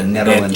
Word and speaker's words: Nederland: We're in Nederland, Colorado with a Nederland.